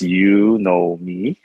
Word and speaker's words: Yunomi: let's let's start with the pronunciation it's you know me and that's that is